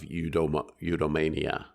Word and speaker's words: eudaimonia: up your happy life or your life of eudaimonia.